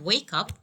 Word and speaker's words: wake up: And the last one is regarding the phrasal verbs. We have to stress the second word. For instance, I have wake up, wake up.